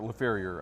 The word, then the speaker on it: LaFerriere: So I'll LaFerriere, I like that. Yes, sir. Or LaFerriere, I guess, is there the English pronunciation.